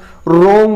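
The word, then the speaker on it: wrong: पढ़ेंगे, जैसे रिस्ट हुआ, रोंग हुआ, ऐसे बढ़ाते हैं दोस्तों। रोंग की स्पेलिंग में डब्ल्यू आर ओ से शुरू होती है, तो आर के पहले डब्ल्यू आया तो उसको नहीं पढ़ा अपन ने।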